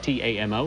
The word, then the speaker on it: Tamo: Also, just checking in, we've gotten a tweet here that says the correct pronunciation of T-A-M-O is TAMO.